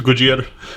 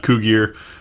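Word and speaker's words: Cugir: have any u.s parts these are made in kujir you can see right there those of you that missed the last video we went to gojira i asked the locals that's how it's pronounced it's not cougar uh as well we would pronounce it but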